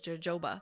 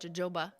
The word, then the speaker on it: jojoba: oil, shea butter, and jojoba oil, which I traditionally pronounce as jojoba because it starts with a J. But jojoba is what is good for your nails.